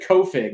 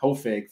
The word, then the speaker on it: Hoefig: coming on for friday i said co-fig not hoefig for your last name well that's what it